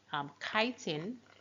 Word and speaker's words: chitin: Oh, and also chitin. So this word is actually pronounced chitin and not chitin. So it's pronounced chitin, and chitin is pretty much what forms the exoskeleton in arthropods.